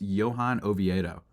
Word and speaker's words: Johan Oviedo: But unfortunately, the Padres can't score against I believe it's Johan Oviedo, is how you pronounce the name.